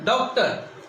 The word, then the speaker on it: डॉक्टर: इसका उच्चारण होता है औ के रूप में होता है डॉक्टर। न तो इसको डा की ध्वनि निकलती है न डो की ध्वनि निकलती है, बल्कि डॉक्टर। हम बोलते हैं टॉफी, हम